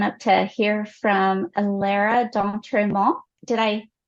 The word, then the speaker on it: D'Entremont: to hear from Lara D'Entremont. Did I pronounce that with the right emphasis on the right syllable? I hope. We say D'Entremont, but D'Entremont, a little less French nasally stuff going on.